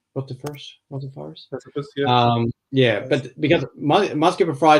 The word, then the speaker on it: rotifers: But in those other cases, there's basically been live rotifiers. That's how you say it, right? Rotifers.